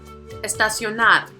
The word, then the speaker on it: estacionar: Now the last one we're going to check out is estacionar. This one has four syllables. So the prosodic accent is going to be on the fourth, which is going to be the last one.